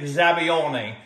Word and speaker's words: zabaione: a classic italian zabione there's many different ways of pronouncing it i like the italian version it sounds very romantic zabione i'm going to make